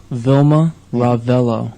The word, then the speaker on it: Vilma Ravelo: sure I say that right uh could you pronounce that for me Vilma rello RAV and then and you are Gabriel poo